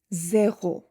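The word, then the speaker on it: zéro: Zero in French is zo zo.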